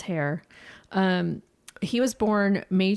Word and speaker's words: Herr: so Sam hair um h e r r and I I listen to other people say it so I'm going to go by the DAT line pronunciation it was hair um he was born